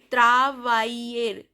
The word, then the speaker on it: travailler: Travailler, travail, double L sound is not pronounced.